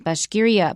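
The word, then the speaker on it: Bashkiria: for me right and the stress is on the second syllable when we talk about the region bashgiria but we're gonna hear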